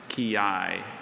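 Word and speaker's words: quillai: Kiai.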